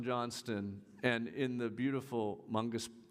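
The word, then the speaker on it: Moncus Park: So we learned as we were west on Johnston and in the beautiful Mongus, how do I pronounce that? Monkus Park? Yes, Monkus Park.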